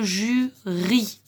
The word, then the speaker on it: jury: Ce mot-là, on va lire la lettre Y comme une voyelle, comme si c'était un I. Donc, on va dire le jury. C'est un Y, donc on le prononce comme un I.